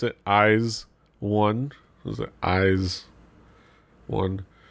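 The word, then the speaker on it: IZ*ONE: of eyes one yes sir that's how you pronounce it eyes one was the eyes one it's not eyes own they even put the last risk in between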